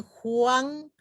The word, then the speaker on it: Juan: En cambio, Juan, fíjense, Juan, no hago énfasis en la U, sino en la A, Juan, ¿no?